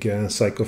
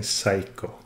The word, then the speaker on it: Seiko: And I'm way too old now to change my ways, so I'm gonna stubbornly keep saying Seiko. Not Seiko, but Seiko.